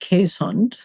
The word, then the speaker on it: Keeshond: It's spelled Keeshond, Keeshond, but in case there are any dog breeders listening, it's pronounced Keeshond.